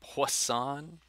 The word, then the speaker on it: Poisson: is the poisson distribution a french guy so you say his name poisson when the number of